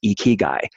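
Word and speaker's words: ikigai: AI ki GA I which is pronounced iki guy it is a Japanese concept and a lot of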